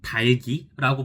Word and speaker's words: 닭이: 또 애들이 많이 틀리는, 사실 이거는 다 틀리는 거긴 한데, 흑이나 닭 같은 경우에는 흑을 아니면 닭이라고 읽으면 안 되고 흙을 달기라고 발음을 해야 됩니다.